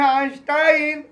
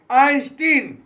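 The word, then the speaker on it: Einstein: उसी तरीके से आइंस्टाइन के नाम को कुछ कहते हैं आइंस्टाइन तो कुछ कहते हैं आइंस्टीन। तो मैं आपको राय दूंगा, जिस तरह के आपने उच्चारण का हैबिट किया है उसी तरह पुकारे,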